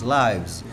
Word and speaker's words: lives: Itu bacanya bukan lives guys, lives. Itu jamaknya dari LIFE. Kalau LIFE kan life ya, kehidupan. Kalau jamak dia lives, pakai V ya, berubah V. Jangan sampai ketukar sama yang tinggal.